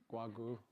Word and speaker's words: Guo Gu: It's usually very hard to pronounce my name. If you just remember guacamole, Guogu, and you'll be fine.